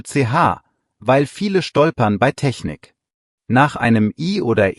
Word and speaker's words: Technik: Kleine Aussprachehilfe für CH, weil viele stolpern bei Technik. Nach einem I oder E ist das weiche CH, wie innig. Nach A, O, U ist es hart, wie in Buch. Technik hat das weiche CH, also nicht SCH.